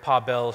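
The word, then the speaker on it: Paweł: My name is Pawel, and it's pronounced more or less like you see those emoji up there, like Pawel. If you get that, it's close enough.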